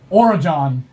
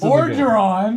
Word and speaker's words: Orjeron: My character is Origin. Origin. How do you spell that? Let me remember why I wrote my name. I'm also the forgetful. We're the Forgetful Clan. Just Orgeron.